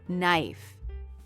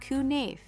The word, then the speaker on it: knife: Look at these words. Knife. Not kafi. Not ki.